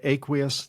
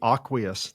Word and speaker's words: Aqueous: Well, we pronounce it Aqueous Technologies. Many people will say Aqueous Technologies. Both are acceptable, not just to us, but from a language expert. Both Aqueous or Aqueous are acceptable.